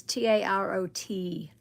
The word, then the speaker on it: tarot: I read from now on um mods if if somebody mentions tarot reading and it's t a r o t tarot. The last t is silent.